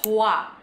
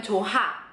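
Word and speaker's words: 좋아: Dan Tiada Kayak misalnya contoh kalimat yang pasti Kalian sering dengar di drama yaitu kata cua itu kan tulisannya kayak gini nih tapi dia dibacanya kan Bukan chuha ya kan dan dia walaupun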